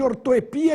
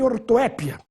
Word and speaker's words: ortoepia: no caso um iato Vamos falar agora de ortoepia e ortoépia para quem não conhece essa palavra significa a parte que nos ensina a correta pronúncia das palavras também temos as duas mas a forma eh ortoepia sem acento É muito mais usada no meio acadêmico do que ortoépia ambrosia e ambrosia Cuidado